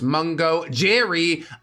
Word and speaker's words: Mungo Jerry: Yes, that is pronounced Mungo Jerry.